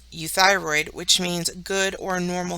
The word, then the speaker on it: euthyroid: of some general rules EU has a sound like the word you our word here is euthyroid which means good or